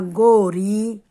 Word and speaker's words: गौरी: तो ओ यानी कि जैसे जीरो होता है ना, जीरो की तरह मुंह खुलता है, लेकिन इसमें देखिए दोनों मात्राओं के उच्चारण में अंतर होता है। कैसे? मुंह खोल के बोलेंगे, बौना, गौरी।